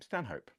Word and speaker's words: Stanhope: his title, the Earl of Stanhope, and you pronounce his name Stanhope.